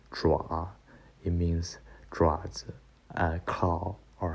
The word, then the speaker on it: 爪: This part pronounced like 爪.